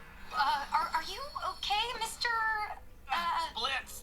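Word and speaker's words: Blitzø: Blitz? The O is silent.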